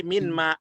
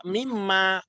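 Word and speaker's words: مما: Kalau sudah ketemu harus melebur dia. Iya. Ya enggak ditulis lagi minma. Kita bacanya juga mimma. Padahal asalnya itu minma. Tapi digabung jadi mimma.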